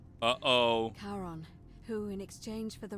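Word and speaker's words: Charon: is a little off the name you heard wasn't Karen it was c h a r o n as in Caron the ferryman of the Dead uh oh karon who in exchange for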